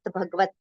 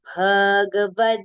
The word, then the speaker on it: Bhagavad: Now, most of the times here it is recited as Srimad Bhagavat. Okay, but it is not the, it is the. And Ga is also with a complete pronunciation, right? So it is Srimad Bhagavad Gita.